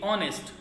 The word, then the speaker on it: honest: For example, if R you will see, so H is silent, so O U R, or, okay. Honest, O N E S T, honest.